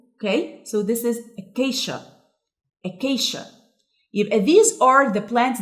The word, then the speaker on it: acacia: And it's called acacia. هي ليه احنا قلناها acacia؟ في معظم الكلمات letter C لما بيكون بعده I بتتنطق ش زي كلمة special مثلا. Okay, so this is acacia.